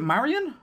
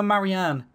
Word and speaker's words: Marianne: What did I call it before? Was it Marion? No, Marianne. Yeah, see, it didn't even take me a part to forget how I was pronouncing her name. Marianne it is.